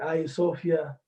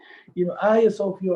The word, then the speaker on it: Hagia Sophia: some talk about, the Hagia Sophia. And for those of you, just some background, Hagia Sophia or Hagia Sophia or, various and sundry pronunciations depending on the language you're pronouncing it.